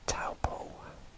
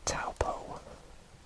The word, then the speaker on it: Taupo: once again around about there and this is taupo which is spelled t a u b o and that is taupo and near the coastline here we have gisborne